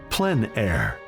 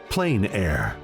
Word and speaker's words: plein air: open air or Outdoors the French pronounce it plan air others say plain air no matter how you